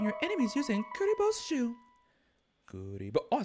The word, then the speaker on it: Kuribo: Kuribo.